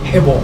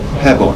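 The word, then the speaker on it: ヘボン: In Japanese, it's called Hebon. Hebon.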